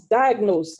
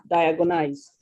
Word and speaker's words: diagnosed: replace thank you then the word is diagnosed not diagonized and finally i heard a